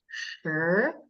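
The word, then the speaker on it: 十: And it is pronounced sure. So your voice is going up.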